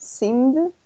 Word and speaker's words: seemed: So here we're going to put seemed. So we just add ed. Yes? Symmetry. No seemed, but seemed. Ah, seemed. Yes. Okay. Es cierto, agregamos la ed, pero lo vamos a pronunciar como d al final.